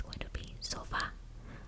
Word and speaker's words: sofá: So when I pronounce sofa, it's not sofa, it's going to be sofa. I'm enunciating and pronouncing the A more because that is the letter that has the accent.